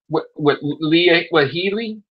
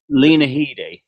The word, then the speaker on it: Lena Headey: With Leah Headey? How's that? How you say it? Lena Headey.